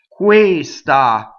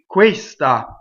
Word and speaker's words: questa: Now, when you speak, you can say questa. And see, I hiss the S, and it kind of bled over a little bit into the first syllable. So spoken Italian, you can do that. When you sing, you have to sing questa. So the first note gets all of the A, the second note gets the S.